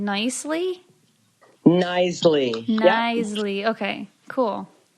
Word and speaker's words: Knisley: Yeah, and so then what I did was I Googled pronounce, and then I got basically the closest thing was Nicely. So yeah, it's like, knife, like silent KN.